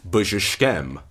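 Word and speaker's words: բժշկեմ: This seems to have been pronounced simply b-z-sh-kem, I heal, with three syllables, b-z-sh-kem.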